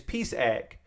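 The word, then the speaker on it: PsEG: That's how you pronounce Peace Egg is Peace Egg.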